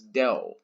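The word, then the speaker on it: ∂: partial derivatives you're right the sign pronounced as del del so a way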